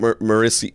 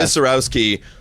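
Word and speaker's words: Misiorowski: Jacob Marisi, how do you say his name? Misowski. Yes, Jacob Misarowski.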